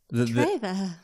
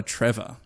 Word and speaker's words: Treva: It's spelled Treva, and I didn't want to look it up because I know... Treva. Yeah. And I also don't want to call her Trevor.